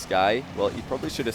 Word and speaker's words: SQI: SQI is pronounced Sky.